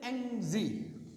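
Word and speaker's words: Yangtze: में, इसको कहते हैं एंगजी रिवर। बाज़ औक़ात कुछ लोग टी को साइलेंट कर लेते हैं, बाज़ औक़ात कुछ लोग टी को भी पढ़ लेते हैं, लेकिन है एंगजी, एंगजी, ठीक है ना।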